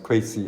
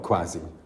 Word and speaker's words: Kwesi: Kwesi is pronounced Kwesi and not Kwasi.